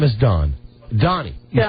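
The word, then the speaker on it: Doni: No, Donnie.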